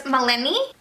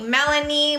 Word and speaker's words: Malini: good job good job almost no one pronounces my name right my name is Malini but everyone for some reason called me Melanie Mulaney Milani it's not that typical